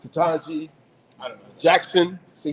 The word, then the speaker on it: Ketanji: This is how you pronounce it, Ketanji.